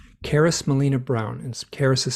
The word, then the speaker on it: Charis: Caris Melina Brown, and Caris is spelled Charis, and it might be Okay.